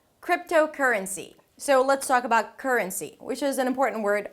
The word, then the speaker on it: currency: as if it's a 'k' and an 'r' together - "k'r", "k'r". And then you relax your tongue and mouth and energy to a schwa - "k'r-r'n" "r'n" "r'n". And then close it with an N - "k'r - r'n". And then again finish it up with "see". Currency.